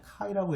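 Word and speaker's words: χ: 이 X하고 이건 X는 아니에요. 얘는 카이라고 읽어요. 그리크 문자 카이고요.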